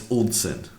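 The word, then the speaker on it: Ulcinj: It's like Yeltsin, but instead it's Ulzin.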